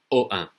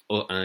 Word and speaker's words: Ohain: don't speak French that might be difficult to pronounce so here it is it is named OA OA is the name of the village it's a